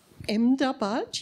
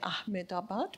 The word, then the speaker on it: Ahmedabad: connection from MoMA to Ahmedabad you pronounce I always used to say Ahmedabad but I'm going to get it to Ahmedabad now learning from you thank you again it's